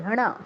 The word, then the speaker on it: কৃষ্ণ: এটা হচ্ছে ভাঙলে মূর্ধন্য স পাই কৃষণ কৃষণ কৃষণ মানে উচ্চারণের জন্য জাস্ট আপনাকে মূর্ধন্যর উচ্চারণটা আগে আয়ত্ত করতে হবে তারপর নরমালি যা আছে তা কৃষণ কৃষণ এটা দ্রুত বলতে হবে এত স্লো মোশনে বললে হবে না কৃষ্ণ কৃষ্ণ একদম এটা ঠিক আছে।